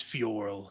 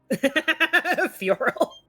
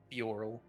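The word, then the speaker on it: F'yorl: I forgot to say my name is Fioral. Thank you. Bye. Fural. Fioral.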